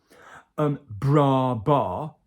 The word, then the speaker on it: bras bas: Bras bas. Okay, so the same vowel twice.